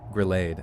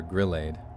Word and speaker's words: grillade: robot that you know is gonna grenade oh girl aid or grillade if you know the robot's just going to mispronounce it like what's the garsh